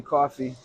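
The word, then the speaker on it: Coffie: So Coffee II, by the way. Okay. And that's amazing. That's beautiful. My name is coffee like the drink, but it's spelled IE.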